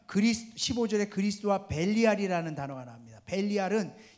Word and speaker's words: 벨리알: 벨리알은 히브리 말로 벨리얄이라는 그런 음성어에서 발음되어진 것인데, 이것은 무가치한 악함 이런 것을 뜻하는 것이거든요.